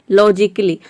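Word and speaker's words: logically: जैसे कि देखिए यहाँ पे है ए साइलेंट है लॉजिकली। लॉजिकली में यहाँ पे ए साइलेंट है, यहाँ पे ए को हम प्रोनाउंस नहीं कर रहे।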